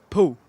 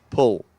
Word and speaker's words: Paul: By the way, his name is Paul, but how do you say it? Paul. Paul. Like a swimming pool.